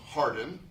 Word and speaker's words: Hawarden: And that's spelled Hawarden in Welsh, but it's pronounced Harden. It looks like Hawarden.